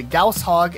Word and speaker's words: Gauss Hog: be replaced with the Gauss Hog, and yes, that is how you pronounce it. If you thought otherwise, you're wrong.